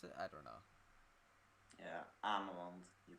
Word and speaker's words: Ameland: Is that how you pronounce it? I don't know. Yeah, Ameland.